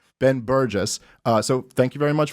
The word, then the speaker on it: Burgis: Because I was saying Burgis for a while. I apologize for that. The G is silent, people. Ben Burgis.